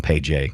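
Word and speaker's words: Pey'j: So his name is Paige, but it's spelled. Everything is spelt in a way that does not make any sense to my American sensibilities. Mm-hmm. So Paige is like pay, P-E-Y apostrophe J, and I'm like, I can't do that.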